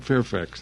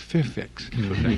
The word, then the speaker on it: Fairfax: The main studios, CBS TV studios in town at Beverly and they pronounce it Fairfax. It's not Fairfax there, it's Fairfax, with a slight Eastern accent.